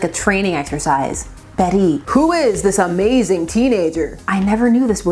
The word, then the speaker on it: Bette: Betty at this point is spelled B E T Y, but they would change it to B t, which with my Canadian duolingual upbringing, I can't stop saying as bet in my head the first time.